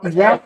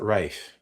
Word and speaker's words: Ralph: Ray Ralph. Ralph. Oh. No, he pronounces it Rafe. Sorry. Oh, does he? Yes, it's spelled Ralph, but I think he's pronouncing it the Irish way.